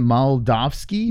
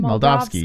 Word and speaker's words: Moldavsky: Vassell all right so how do you say it Molotov ski Mel dog ski yeah Mel dog ski versus vassal is the